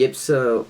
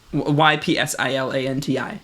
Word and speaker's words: Ypsilanti: And remember when you did like the Yipsa whatever to me? That shit. Yeah. Bullshit. Do you know how to pronounce it?